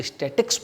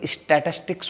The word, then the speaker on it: statistics: स्टैटिस्टिक्स को 90% लोग तो स्टैटिक्स बोलते हैं। क्या बोलते हैं? स्टैटिक्स, जो कि गलत है। प्रोनाउंसिएशन जो उसका है एकदम गलत करते हैं, स्टैटिक्स, जबकि स्टैटिस्टिक्स होता है।